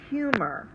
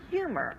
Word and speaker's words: humor: The first syllable, hu, is the accented syllable, or the syllable that we say a little bit stronger. It's open because it ends with a long U sound. We say humor. We don't say humor.